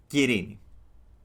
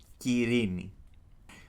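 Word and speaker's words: Κυρήνη: You're gonna call her Kirini. That's how you can pronounce her name in Greek. Kirini.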